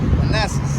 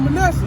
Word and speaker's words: Manasseh: Or the tribe of Manassas. The tribe of Manasseh, yep, you pronounced it right.